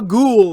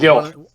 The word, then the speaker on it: Gill: So Ghoul is here. He's Gil. What? Gil. Oh, like fish Gil?